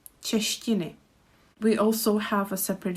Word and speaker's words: češtiny: And with the last word, there is a syllable ti, češtiny.